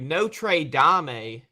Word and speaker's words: Notre Dame: Number 8th ranked team in the country, Notre Dame. That's how you pronounce it.